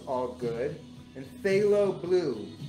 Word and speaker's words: phthalo: i'm gonna make orange it's all good and phthalo blue p-h-t-h-a-l-o they pronounce it phthalo blue i don't know who